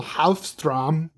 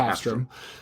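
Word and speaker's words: Håfström: Directed by Michael Hofstrom. Hofstrom. Michael H. I've legit heard it pronounced Hafstrom. It's Michael Hafstrom.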